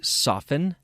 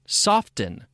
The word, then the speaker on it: soften: the T pronounced imagine soften hasten fasten now these sound very odd with the T pronounced because the English-speaking population at large has accepted the silent t as the way to pronounce these words there is no accepted